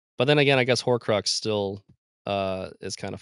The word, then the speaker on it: Horcrux: your outline it's a for one it's a hor Crux but you keep calling it a ho you keep calling it a hux did I not pronounce there's no you have